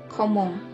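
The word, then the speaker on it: comment: itu bagaimana ya dilafalkan nya pun homong ya komong artinya Bagaimana Saba ya Sava itu sebetulnya bisa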